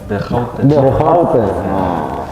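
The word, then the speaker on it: De Grote: Tapi yang sebenarnya bukan The Groot dibacanya. The Houte.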